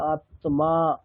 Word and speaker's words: আত্মা: বাংলাতে যেটা আমরা বলি আত্মা সেটাকে বলতে হবে আত্মা। তয়ম আকার আছে। তাহলে তম দুটোরই স্পষ্ট উচ্চারণ করতে হবে।